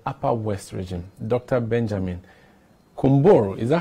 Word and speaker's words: Kunbour: Benjamin Kunbour. Is that how it's pronounced? Yes, Kunbour, you got it right. I have tried. What does it mean? Well, Kunbour actually means which death.